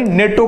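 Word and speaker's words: NATO: आहे तर त्या ठिकाणी नेटो किंवा नाटो लक्षात ठेवा दोन्ही पण त्या ठिकाणी प्रोनन्सशन योग्य आहेत नेटो हा आपण लोकसत्तामध्ये त्याठिकाणी त्या दिवशी बघितलं होत आलेल होत नेटो आणि जनरली आपण नाटो अस युज करतो बरोबर या ठिकाणी जे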